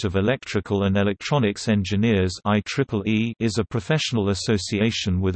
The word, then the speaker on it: IEEE: fields that it is simply referred to by the letters ie pronounced I Triple E except on legal business